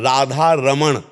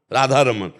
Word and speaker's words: राधा रमन: और शुद्ध शब्द है अगर उसमें उच्चारण करते हैं राधा रमण, राधा रमन और राधा रमन, राधा रमन। णा को हटा के ना, ब्रजभाषा में ना का ही प्रयोग।